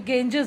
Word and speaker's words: Ganges: The Indus river, the गेंजेस, बेटा ये गेंजेस जो गंगा है, इसको अंग्रेज जो थे, जो इंग्लैंड के, जो लंदन के लोग थे, जो पहले हमारे इंडिया पे रहते थे, वो इसे गेंजेस कहते थे। तो इसके स्पेलिंग्स देखिए, GANGES, जबकि ये गंगा नहीं बोलते थे, वो गेंजेस कहते थे, तो मैं भी वही प्रोनाउंस कर रही हूँ।